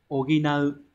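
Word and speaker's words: 補う: Thì chúng ta sẽ đọc là oginau.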